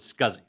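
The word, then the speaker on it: SCSI: me but but the way that it's normally pronounced is scuzzy okay is what you actually have now this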